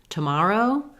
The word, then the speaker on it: tomorrow: Tomorrow, same thing. Tomorrow. Together, words that have TO in the first syllable and are unstressed on that first syllable are going to be that quick schwa sound.